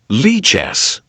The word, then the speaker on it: Lichess: Like if you Google, let's see if I can find it, how to pronounce. Yeah. Lichess.